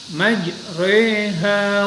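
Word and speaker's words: مَجْرٜىٰهَا: Nah, karena supaya tidak terombang-ambing, maka membacanya Imam Asim dengan kalimat majreha wa mursaha. Nah, itu. Jadi diimalahkan.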